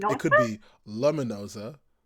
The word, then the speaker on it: Luminoza: Hello, I'm the illustrator and author for The Witch of Luminoza.